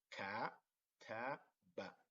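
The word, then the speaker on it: كتب: So ka, ta, ba, kataba. Ka, ta, ba, kataba.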